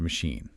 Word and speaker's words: machine: The notes also mention the word machine. It looks like it should sound like China, but it's pronounced with an SH sound.